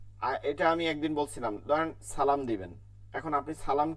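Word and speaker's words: سلام: ওয়াও ওয়াও, ওয়া আ, ওয়া আ, লাইকুমুস সালাম, সিনের উচ্চারণটা আমি ঠিক মতন করছি কিনা? সালাম, সালাম।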